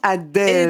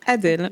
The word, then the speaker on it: Adèle: Voilà, ça s'écrit Adol, mais ça se prononce Adel.